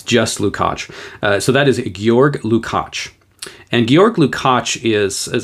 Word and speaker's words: Georg Lukács: And I know that you probably look at that and think it's George Lukács or something. But Georg Lukács is the proper pronunciation, at least as far as I can tell.